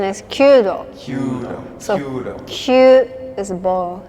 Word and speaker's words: Kyudo: Proper pronunciation is Kudo. Kyudo.